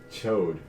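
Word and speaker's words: Chaud: dragon that's a name yes chode no but it's it's c-h-a-u-d but it's pronounced chode it's like an amber chart okay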